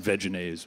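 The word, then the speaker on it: Vegenaise: like a crate of Veganese. Yeah. At some point, so. Or I was told the corporation pronounces it Veganese, but I don't know that I can do that.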